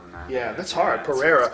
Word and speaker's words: Pereira: Pereira. It's You should have it spelled like Carrera, like Porsche. Portuguese. Pereira.